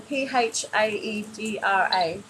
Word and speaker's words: Phaedra: that phaedra phaedra sorry if i'm saying your name wrong p h a e d r a phaedra a message for phaedra that's correct okay